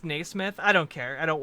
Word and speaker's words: Naismith: Pronounced Naismith.